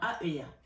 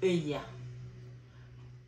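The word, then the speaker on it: Heuiah: Alors, non, Aela. C'est pas elle, c'est I. Donc, ça s'écrit H, autant pour moi, H-A, H-E-U-I-A-H. Aela.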